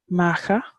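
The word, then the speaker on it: Macha: and marker who is the Ulster sovereign goddess marker and then we have five and you will hear vibes name pronounced above sometimes and for me it's five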